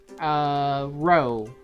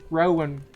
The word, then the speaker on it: row: father are having a row that's how you pronounce that word where's I was confused between Rowan Rao but looking at the the rhymes I know mother and father having a row she's an agreeing said